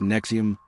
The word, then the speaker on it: NXIVM: Nexium, pronounced Nexium, Nexium's core offering was the Executive Success Programs ESP.